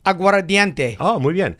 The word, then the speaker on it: aguardiente: so this is called you gotta say it properly aguardo diente aguardiente right perfect so it will about